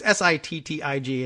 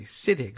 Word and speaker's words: Sittig: of his last name it's si TTI G and normally we would all say siddik but it's sittig fatigue Steve sittig has